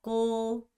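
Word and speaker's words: cô: 어떻게 해야돼 오에 여러분 입모양 제발 오로 제돌 해 주세요 꼬 꼬 꼬 이렇게 발음 하셔야 돼요 자 꼬는 뭐요 여러분이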